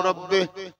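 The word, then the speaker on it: ربي: ওই বাক্যটায় বলে আল্লাহু রাব্বি আল্লাহু রাব্বি আল্লাহু রাব্বে আল্লাহু রাব্বে আপনাদের গাতে বলে আমি কি বললাম আল্লাহু রাব্বে আল্লাহু রাব্বে এই আল্লাহু রাব্বে যে বলছে এটা একচুি উচ্চারণ হচ্ছে আল্লাহু রব্বি কি বললাম আল্লাহু রব্বি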